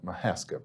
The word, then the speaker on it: Mahaska: Okay, let's start by talking about the Mahaska brand. And am I pronouncing that correctly? You were pronouncing it correctly.